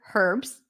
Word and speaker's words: Herb: English you will hear herbs and by the way the name Herb in English American British whatever dialect the H is pronounced for the name herb